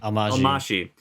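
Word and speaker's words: Almásy: Almashi.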